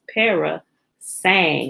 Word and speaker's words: parasang: parasain p-a-r-a-s-a-n-g-s para saying it's spelled just like it sounds pera sang like that girl can sing parasai okay a traveler